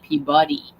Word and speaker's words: Peabody: The character's name is Peabody, but the author pronounces it Peabuddy.